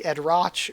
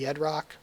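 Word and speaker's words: Edrok: spelled with the ch the problem though is that it caused a lot of people to um say ed roche or red roach um when it should just be edrock so again that's just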